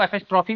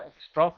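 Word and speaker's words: apostrophe: कुछ लोग इसको एफ एस्ट्रोफी भी बोलते हैं। नहीं सही जो है वो एपिस्ट्रोफ है। ठीक है? हिंदी में थोड़ा सा ना प्रोनाउंसिएशन ऊपर नीचे रहता है। एफ एस्ट्रोफी लोग बोलते हैं। सही एपस्ट्रोफ होगा।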